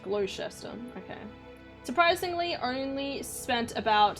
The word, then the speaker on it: Gloucester: reputable restaurant bar called the Duke of Gloucester pronounced Gloucester okay surprisingly only spent about 70 bucks for